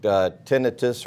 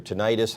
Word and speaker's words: tinnitus: And this guy, and this is, and I don't want to take tinnitus or tinnitus, however you want to pronounce it, lightly.